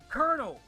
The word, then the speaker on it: colonel: of bothers me because it's not spelled the way it's pronounced. I don't know why I don't know why it's pronounced colonel. It's spelled like hollow, but it's not it's not pronounced that way.